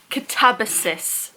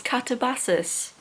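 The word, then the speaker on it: Katabasis: The book of the month is Catabasus as I've learned that that is how it's pronounced. I thought it was Catabases.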